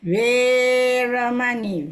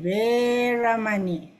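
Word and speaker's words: veramaṇī: Okay, remember, don't rush the Veramani. Veramani. Veramani.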